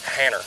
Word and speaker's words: Hanner: Hanner. Hanner. Kind of like Tanner. Like Tanner.